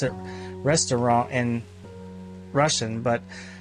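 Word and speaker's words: Ресторан: you don't pronounce it Pectopa. You pronounce it restaurant in Russian, but Pectopa is the way it looks like in the Roman alphabet.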